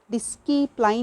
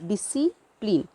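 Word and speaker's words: discipline: तो इसको डिस्कीप्लाइन नहीं पढ़ते, इट इज़ डिसिप्लिन। सी जो है यहाँ पे सी साइलेंट है।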